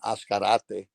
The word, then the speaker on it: Azcarate: um um names I've been how people have pronounced my last name other than ascarate but anyhow I'm very happy and appreciate appreciate